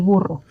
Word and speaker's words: burro: I wouldn't be talking about a donkey and say el burro, but yeah, el burro. Yeah, for the purposes of this lesson and for our learning then, yes, we're over-rolling our R's here. So if you're thinking, oh, I'll never be able to over-roll that R, don't worry. We are going a little bit further than we need to with this. Muy bien, muy bien.